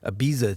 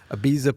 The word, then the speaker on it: Ibiza: he goes to like Ibiza to do pari you know there's a piece of barista yeah I think I just said because it rhymes yeah Ibiza per barista exactly all right well